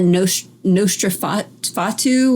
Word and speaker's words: Nosferatu: Remember that Nosferatu, or I don't know, it was the vampire.